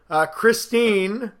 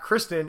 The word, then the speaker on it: Christine: It is not Kristen. It is Christine.